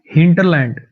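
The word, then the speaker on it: hinterland: याद कर सकते हो हिंटलैंड हिंटलैंड आर लगभग इसमें साइलेंट ही होता है।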